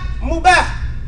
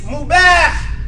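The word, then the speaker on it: مباح: The two A's is ah. Say it and you'll say it right. It's not mubah. It's mubah.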